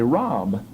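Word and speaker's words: רב: and you didn't know what B-Line mentioned say Rob it's a common Hebrew adjective that means much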